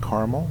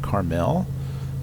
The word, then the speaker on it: Carmel: there assures me that it is pronounced Carmel, not Carmel.